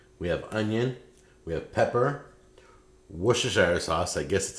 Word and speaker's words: Worcestershire: ground beef we have onion we have pepper Worcestershire sauce I guess that's how you pronounce it right you got olive oil and